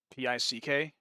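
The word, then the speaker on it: pik: It's with a K in the end instead. It's close. P-I-K. It's pronounced the same way when you just say like P-I-C-K in English. Just pick.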